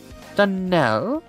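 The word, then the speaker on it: Donnell: Danell accent on the last syllable and St.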